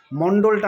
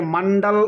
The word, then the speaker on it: মন্ডল: তো এম এ এন ডি এ লিখতে গেলে সেটাকে মান্ডাল উচ্চারণ হয় না।